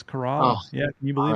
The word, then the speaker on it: Corolla: We going to Corolla? We going to Duck? Where are we going in the Outer Banks? Duck. And it's actually pronounced Corolla.